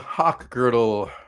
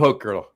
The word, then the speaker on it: Hochgertel: Hochgertel. Excuse me. I knew I was going to say it wrong. Hochgertel. Are you there? Oh, there you go. You got it.